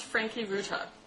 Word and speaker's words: Franke-Ruta: Did I get the pronunciation of your name correct? It's Franke-Ruta.